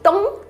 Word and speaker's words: Tom: é ele né então quando tiver um M final no inglês você tem que encostar os seus lábios fechar a sua boca Remo tenta pronunciar essa palavra aqui em voz alta agora para praticar o nome Tom que a gente falou Tom e Jerry em inglês a gente fala tchau tá vendo que fecha a boca tchau tchau